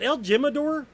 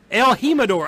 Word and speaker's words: El Jimador: Is it El Jimador? I hope it's not pronounced well, like if it's a J, it's going to be Jimador. El Jimador. Okay, it's going to be... If it's a J, it's an H, yeah.